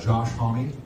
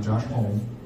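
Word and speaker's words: Homme: got that straight from Dave gone just like Josh homie that's how he pronounced his name are you PRS the last name hom okay not Josh Hol Brody doll it's Brody doll not doll so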